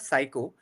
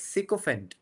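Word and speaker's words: sycophant: we met we got to this and the pronunciation was wrong. It is not psycho it's sycopant. Seopant. Seopant. Yes. Till now I used to say psychopendant.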